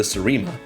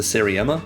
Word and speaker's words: Seriema: Nebula piloting the Serema, which during that whole video I pronounced it as the Seriema because I had not not heard any of the podcasts for it. I still think Seriema may be a cooler pronunciation, but that's just me.